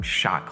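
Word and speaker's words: Schott: goodness it's remarkable it's constructed from shot glass now not like shot glass but s c h o t t I think that's how it's spelled and this results in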